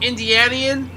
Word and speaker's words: Indianian: Yeah, if you're from Indiana, it's called Indianian.